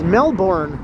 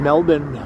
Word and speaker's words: Melbourne: I remember watching a video where it was explained that a lot of people mispronounce it as Melbourne when it's actually more like Melbourne, right? They live in Melbourne.